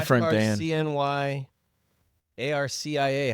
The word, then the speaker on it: Arcia: Cars, CNY, ARCIA. How do we pronounce that one? Arcia. Arcia. The Garcia without the G.